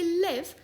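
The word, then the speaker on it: live: ही confusing शब्द है यह लिव है या लाइव है अगर लाइव है तो डू आई लाइव some where और डू आई लिव समवेने है क्या आज इस शब्द को हम एक बार में सही समझेंगे आप कहेंगे लिव अगर आप बात कर रहे हैं जिंदा होने की या कहीं रहने की जैसे कि इफ यू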